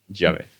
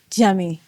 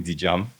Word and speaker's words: Djiame: I've heard many people try to pronounce it. They either call me DJam, they call me, Uh-huh. they call me um Jamyu. All manner of things, so I mean I